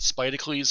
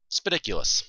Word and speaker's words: Spidicules: People thought Spidicles for a while, but Spidiculous.